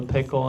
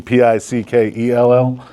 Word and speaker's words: Pickell: It's actually Pickell, E-double-L.